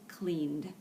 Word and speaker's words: cleaned: another vowel diagraph and notice the ed sound um is just one syllable cleaned okay well I hope